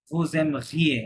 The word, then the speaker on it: vous aimeriez: আচ্ছা, আবার ভু এম ঘিয়ে হবে না, জেড সাইলেন্ট। vous aimeriez, হ্যাঁ, vous aimeriez, এই যে এখানে ওটা মাঝে আসতেছিল বলে এই জন্য এই হয়ে গেছে, আর জেড তো সাইলেন্ট আছে।